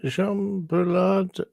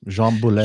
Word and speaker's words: Boulet: I'm just gonna say that Jean Boulard. No, not even close. Jean Boulet. Jean Boulet.